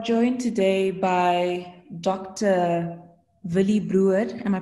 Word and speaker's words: Bruwer: Willie Bruwer. Am I pronouncing it correctly, Doctor?